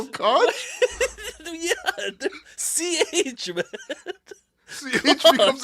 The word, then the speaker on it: Koch: It's Koch. It's not Cock. Koch is Koch Records, man. Yo, so when you There's talk no about Kevin way you O'Connor, you call him, man. You call him Koch?